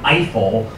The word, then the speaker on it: Eiffel: alexander gustav he fell if you're an american you have mispronounced his name eiffel your whole life it was designing the